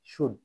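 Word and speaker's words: should: বলা টক এস এইচ ও ইউ এল ডি সুড উচ্চারণ এটি কি উচ্চারিত হবে সুড উচিত অর্থে ডব্লিউ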